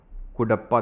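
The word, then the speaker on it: कडप्पा: यह है आपका धारवाड़ और कुडप्पा। ध्यान रखना। ठीक है? यह है आपका धारवाड़ सिस्टम ऑफ रक्स। और यह है आपका कुडप्पा। ठीक है? कड़प्पा कुडप्पा जो भी आप इसको प्रोनाउंस करो।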